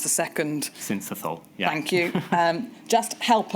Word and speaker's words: syncytial: I know it's a respiratory virus, and I can never pronounce the second. Syncytial.